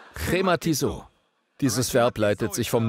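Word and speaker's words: χρηματίζω: Es wird glottal ausgesprochen: chrématizó. Versuch es mal auszusprechen. Du hast deine Maske auf, also musst du nicht befürchten, dass du jemanden anspuckst. Sag mal chrématizó. Es hat so einen Glottallaut.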